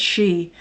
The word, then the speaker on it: Sidhe: How do you pronounce Sidhe? Is that she or she? I think it's she. Like banshee.